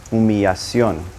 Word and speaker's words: humillación: Now, two L's in Spanish are going to sound like a Y. In some areas, they may pronounce it more like a soft J, like yo or Joe, but it doesn't have an L sound anymore.